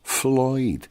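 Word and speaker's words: Ffloyd: Pink spelt the Welsh way, P-I-N-C, and Floyd with a double F, of course. Floyd. Otherwise, with one F in Welsh, it's pronounced Vloyd. Single F is pronounced V.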